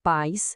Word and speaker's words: pais: A palavra pais sem acento é um ditongo, uma sílaba só. Agora basta colocar um acento nesse i e i pronto. A palavra vira país com duas sílabas.